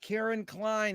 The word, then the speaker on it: Caryn Cline: honor and a pleasure to be here with karen klein is that the correct way to pronounce it karen yes it is and where